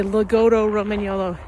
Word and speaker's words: Lagotto Romagnolo: Um you know, I looked up how to pronounce it from different Italian breeder websites and they all say loto Romanolo, but for some reason it seems in probably in the States to be honest.